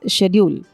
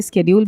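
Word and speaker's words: schedule: 12th word is शेड्यूल। American pronunciation में इसे स्केड्यूल भी बोलते हैं कई लोग, but British pronunciation is शेड्यूल, जिसका मतलब है अनुसूची या काम या कार्यक्रम की सूची।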